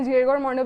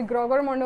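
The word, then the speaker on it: Gregor Mendel: तो फिर हमारे पास है जेरर मॉन्डल, ठीक है, कोई ने जेरगर मॉन्डल बोलता है, कोई ग्रोगर मॉन्डल बोलता है, जिसे जो प्रोनाउंसिएशन अच्छी लगती है वो इस हिसाब से पढ़ सकता है।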